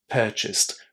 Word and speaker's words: purchased: you want to say managed without that extra syllable. Managed, purchased.